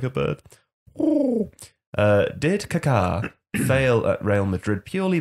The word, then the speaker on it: Kaká: How do you say it? Kaka? I like to say Kaká. I'd say caca, but I don't really know. Kaká! You know, like a bird.